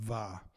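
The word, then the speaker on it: mhath: Of course, it's pronounced va. M-H-A-T-H is pronounced va.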